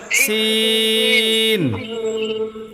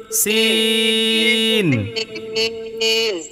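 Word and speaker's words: سين: শোনেন এখানে একটা কথা বলি সিনের উচ্চারণটা করতে যাইয়া পরিপূর্ণ চ হবে না আবার পরিপূর্ণ স হবে না মাঝখানে থাকবে মানে সিনও বুঝা যাবে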